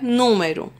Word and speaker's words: número: O outro exemplo é número. Antepenúltima sílaba é a tônica, é a mais forte. Então, ela vai ser classificada como proparoxítona.